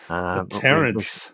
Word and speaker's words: Tarrant: Terrence. Yes. Rhymes with parents.